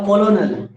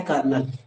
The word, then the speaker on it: colonel: आपको जानकर आश्चर्य होगा COLONEL का उच्चारण किसी को पूछ देना, बोलेगा कोलोनल, रहेगा ना COLONEL, ठीक है। और इसका उच्चारण होता है कर्नल।